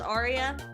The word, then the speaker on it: Aria: Should I do my full name and then just pronounce it as Arya?